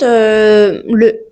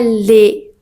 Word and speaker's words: le: Par exemple, on dit le. Ce n'est pas les. Ok?